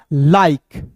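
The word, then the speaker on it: like: जाएगा दोस्तों दोस्तों माइक एल का ल आई के ई है तो इसका उच्चारण आई के के रूप में करेंगे दोस्तों हो जाएगा लाइक ठीक है जैसे दोस्तों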